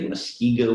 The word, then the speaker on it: Muskego: was twice elected alderman for the city of muskego wisconsin that pronounced that correctly yes all right and uh